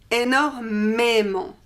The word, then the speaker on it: énormément: Here again we have some words that put an accent on the E. For example, énorme means enormous, énorme, énormément, énormément. Intense, intense in English, intense, intensément, intensément.